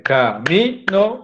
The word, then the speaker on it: camino: Y miren, porque una cosa es decir camino y otra cosa es decir caminó.